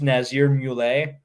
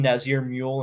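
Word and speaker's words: Nazier Mule: this guy's name but i believe it's nazir mullay i would have called him nazir mule and looked like a complete dumb ass had i not watched a video where they actually said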